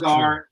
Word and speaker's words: Allgeier: And then Ross, he can hear the names pronounced, but he still can't pronounce them. It's Allgeier, and he's the rookie running back from the University.